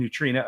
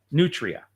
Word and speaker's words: nutria: And Nutrina are the same thing. Is it Nutria? Nutria. Okay. See, I was saying it wrong.